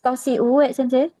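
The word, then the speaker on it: 年上: kayak H Tosi U.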